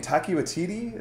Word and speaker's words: Taika Waititi: Taika Waititi?